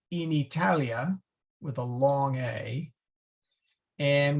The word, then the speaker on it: Italia: have to say in Italia with a long a and we have to say with a long a and uh let's see